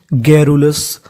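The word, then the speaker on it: garrulous: कहने का मतलब यहाँ पर आर हमारा 2 बार है, लेकिन पढ़ना कितनी बार है? केवल 1 बार। तो मीनिंग बनी हमारी GARRU, गैरू। और आगे लिखा है हमारा OUS, OUS को पढ़ते हैं अस, यानी आपको इंग्लिश में कहीं पर OUS लिखा मिले तो उसका उच्चारण करना है अस, तो मीनिंग बन गई गैरुलस, गैरुलस।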